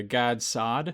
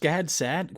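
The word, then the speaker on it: Gad Saad: the parasitic mind by god sod is just gad sad why don't i know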